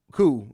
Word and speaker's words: coup: Coup is the way I should have pronounced that.